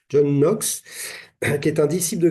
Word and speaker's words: Knox: très connu qui s'appelle John Knox, ou Knox, si on prononce le K, mais je ne crois pas, John Knox, qui est un disciple